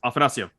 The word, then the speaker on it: Afanasyev: I mean, and you listen to Russian broadcast, that's Afanasyev. Yeah.